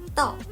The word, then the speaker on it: 道: Here, 智 clearly suggests the meaning, while the standing knife takes its pronunciation from the original character 刀, guiding us to pronounce our final character 道. 刀, 道.